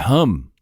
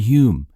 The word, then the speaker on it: Hum: Why do I keep saying The Weather and Hume? I don't know. It's like, it's probably The Weather and Hum. It's spelled H-U-M. But I have this weird tendency to overcomplicate everything. So I'm looking at H-U-M, thinking it can't just be Hum. It has to be Hume.